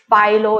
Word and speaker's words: FILO: So if you want to get FILO, is that how you pronounce it, Douglas?